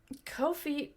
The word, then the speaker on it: Ko-fi: Ko-Fi rhymes with no fee.